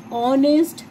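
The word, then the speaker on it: honest: नहीं आती, H silent, जैसे कि एन ऑनेस्ट मैन, ऑनेस्ट। अब आवाज किसकी आ रही है, ओ की आ रही है, ऑनेस्ट, एच की तो नहीं आ रही ना, ठीक है, उससे पहले क्या लगेगा, एन लगेगा, ठीक है।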